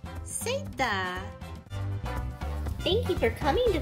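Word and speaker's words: zeta: Z in Spanish is pronounced seta.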